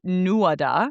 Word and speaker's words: Nuada: Then there was the Nuada, and this is spelled Nuada, and he was the first king of the Tuatha Dé Danann.